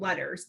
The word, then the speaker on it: LETRS: So right now here in New Mexico, we are hearing all about letters, but it is spelled LETRS.